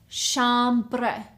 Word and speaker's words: chambre: The third word is chambre. Chambre, 2 syllables.